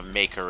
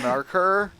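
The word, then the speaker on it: Maykr: The Maker Angels. Oh, that's how you're supposed to pronounce them. I was Yeah, like, they're marker?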